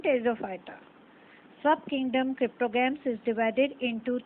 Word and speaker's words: Pteridophyta: P is silent in Pteridophyta. Subkingdom cryptogams is divided into three divisions, Thallophyta, Bryophyta and Pteridophyta.